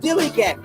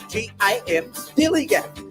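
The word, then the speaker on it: DILLIGAF: And I can relate to their attitude too in a word, dilly-gaff. That's spelled D-I-L-L-I-G-A-F, dilly-gaff.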